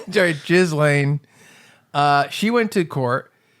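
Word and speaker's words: Ghislaine: jiz Lane just just I don't think there's a pause between the syllables jiz Lane uh she went to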